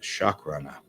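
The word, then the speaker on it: Shakrana: Okay, for those of you joining me for the first time here, this is one of my aliens, the Chakrana. Not spell, it's spelled with an A, so S-H-A-K, Chakrana, R-A-N-A, Chakrana.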